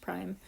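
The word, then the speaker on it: ′: This little apostrophe looking thing is pronounced prime.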